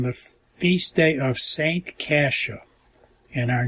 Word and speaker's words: Coscia: great joy here because our last name is Kasia spelled the same as st. Rita's name except we have the vowel O instead of a as the second letter and this was totally unexpected the same sounding name miracle some people would